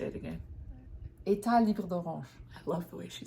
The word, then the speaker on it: Etat Libre d'Orange: Etat Libre d'Orange.